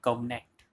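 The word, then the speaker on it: covenant: तो इसको हम प्रोनाउंसिएशन करेंगे कवनेंट।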